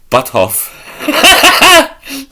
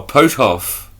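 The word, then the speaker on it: Puthoff: Parapsychologist Hal Butthoff. No, Butthoff. The research UFO-related development. Butthoff. That's the pronunciation.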